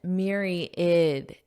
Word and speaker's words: myriad: depending on the context now notice that pronunciation Mir id id so you don't really hear this a in the word it just sounds like ID at the the end so here's the phonetic